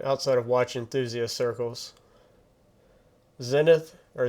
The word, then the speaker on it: Zenith: Zenith, or Zenith, I've heard it pronounced multiple ways.